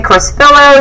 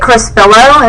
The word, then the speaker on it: Crespillo: You know, some people say Crespillo, some say Crespillo. It just kind of depends. So, but How do you say it properly? I say it Crespillo, and so does his family, because like I said, they were born in Spain, and so they have